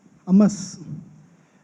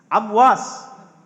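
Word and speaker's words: عمواس: امس. نہیں آپ تلفظ میں غلط کر رہے ہیں. انہیں دیجیے نام، کیا بولنے دیجیے. امواس. ہاں صحیح، آ جائیے.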